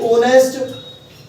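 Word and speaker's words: honest: सीख जाओ इंग्लिश में जिनमें एच साइलेंट होता है उसको हम ओ से पढ़ते हैं इसको पढ़ेंगे ऑनेस्ट ऑनेस्ट इसको पढ़ेंगे ओनर ओनर अब बेटा अगर उच्चारण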